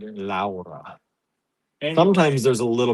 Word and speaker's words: Laura: The Spanish way say Laura. Laura. Yes. I can't roll my R's.